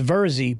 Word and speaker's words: Virzi: My last name is Virzi, but since there's an I, people always think